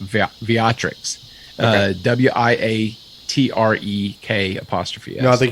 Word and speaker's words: Wiatrek: It looks like Vitrix, but I think it's pronounced Viatrix.